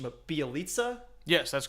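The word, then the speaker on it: Bjelica: But they also lost Porter and correct my mispronunciation, but Bielitsa.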